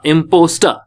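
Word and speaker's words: impostor: स, इम प औ स, इम्पोस ट आ, इम्पोस्टर, इम्पोस्टर।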